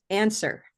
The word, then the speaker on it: answer: The next word on our list was answer.